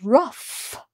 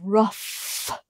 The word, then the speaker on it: rough: this word is pronounced rough so this is through and that's rough with an F sound at the end so they look so